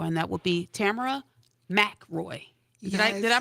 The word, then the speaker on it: Mackroy: the show before and that would be Tamara ma Roy did I did I pronounce it right yes she did yes now